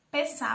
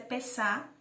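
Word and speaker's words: פסח: A Páscoa no hebraico ela significa Pessá, a pronúncia Pessá.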